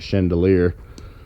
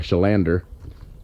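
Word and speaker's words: Chalender: at this place called i call it i pronounce it chandelier or sorry shalander and uh caught that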